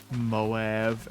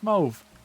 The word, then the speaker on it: mauve: Moab. Absolutely the wrong way to pronounce that color. Or mauve. It's mauve. Absolutely mauve. The British are right about one thing, and it's mauve.